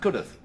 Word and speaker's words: Cudworth: Except it's pronounced Cudworth.